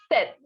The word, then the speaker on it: sept: scpt the pronunciation is set the sound of p will be silent so it will be